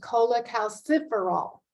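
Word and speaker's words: cholecalciferol: deficient in D3 this is also known as Cola calciferol that's how you pronounce that big long word that's on the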